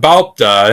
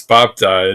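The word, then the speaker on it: 밟다: And that's not balpda, it's bapda, it's babji, okay? So that, again, like with makda before, this ul sound isn't pronounced in most cases.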